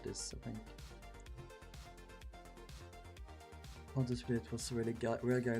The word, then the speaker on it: Pontius Pilate: In Swedish it's Pontius Pilatus. Is it Pontus Pilate? Pontus Pilate. Pontus Pilate? Pontius Pilate. Okay.